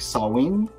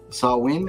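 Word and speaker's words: Samhain: of and this says it looks like Sam ha but uh I've learned that it's like sawin sawin I think is how you pronounce it sawin uh when people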